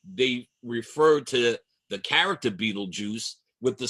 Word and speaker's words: Betelgeuse: It looks like Betelgeuse, but it is pronounced Beetlejuice, I'm told. But, well, YouTube tells us, as YouTube tells us, that it is still pronounced Beetlejuice.